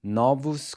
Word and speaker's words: novos: One thing to note here is that “**NO-vos**” and “**NO**-**va**” are pronounced with an open O, as in the “awe” in “BOS-ton”.